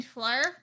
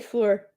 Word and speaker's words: Fleur: there we go Fleur you mean flyer is that how you say it I say floor yeah her name's Fleur I say Fleur Fleur Fleur isn't that what I'm saying no you were saying flea worm whatever that is flea Fleur isn't it